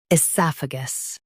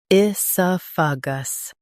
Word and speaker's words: oesophagus: In US, stress sa. In UK, stress soph. Esophagus. Esophagus.